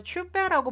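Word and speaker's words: chupe: 여기서 추페라고 발음을 하는데 추페는 말 그대로 그 걸쭉한 스튜 종류예요.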